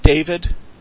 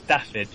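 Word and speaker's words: Dafydd: Is that, do you pronounce that David? I heard this said the other day. I think it's not quite right. It's Daffyd or Daffyd.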